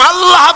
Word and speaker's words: আল্লাহ: আল্লাহ اللہ আল্লাহ اللہ আল্লাহ اللہ আল্লাহ পাকের উচ্চারণটা হচ্ছে আল্লাহ পাকের নামের উচ্চারণ হচ্ছে আল্লাহ মুখটা একটু গোল হয়ে যাবে বলেন আল্লাহ اللہ আল্লাহ